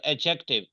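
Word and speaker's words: adjective: आगे क्या है जीट डी नहीं बोलना डी साइलेंट जब भी जे से पहले डी आएगा वो साइलेंट होगा एडजेक्टिव एडजेक्टिव ए एडजेक्टिव डी को बोलना ही नहीं है एडजेक्टिव एडजेक्टिव एडजेक्टिव एडजेक्टिव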